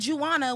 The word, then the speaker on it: Juana: So why would you say Juana when you know the J is not going to give Jew? So, okay, y'all ain't gonna mess up Juana no more.